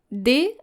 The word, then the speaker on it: doigt: So it's very challenging because you are very tempted to pronounce the G and the T, but both of them are silent.